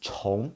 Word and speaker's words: 重: So chong means double, okay? Well, it also has another pronunciation, which is zhong. Zhong means heavy. That meaning, that pronunciation is used more commonly, but it means chong, okay? It means to repeat or to double.